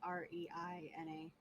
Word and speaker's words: Reyna: I mean, I've also seen that pronounced as Reina before, so. Usually Reyna's Reina.